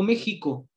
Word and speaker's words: México: se empieza con x lo digo méxico con jota y lleva x y digo examen es